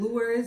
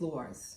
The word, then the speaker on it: Loires: I've been pronouncing my name the wrong way my entire life. I've been saying Loires because I'm Americanizing it, but my people back home told me, no, it's Loires.